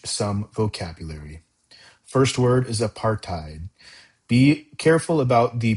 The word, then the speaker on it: apartheid: First word is apartheid. Be careful about the pronunciation of this word. It's not apartheid, it's apartheid.